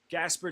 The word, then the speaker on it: Gasper: Gasper told me it's like the ghost, like Casper, the friendly ghost.